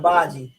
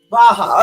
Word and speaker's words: Baja: Well, how do you pronounce that? The area I was saying earlier when I called it Baji. The area that I call Baji. Baja.